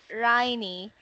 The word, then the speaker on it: Raini: So Rain, Mom Rain's name should be your name is pronounced as Rain, right?